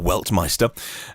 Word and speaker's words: Weltmeister: think I pronounce it belt my store weltmeister they I think it literally translates as world champion or master of the world but I would call